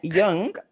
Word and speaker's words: Jung: coming out in me apologies I said the man's name wrong but yeah young and Myers-Briggs it's like a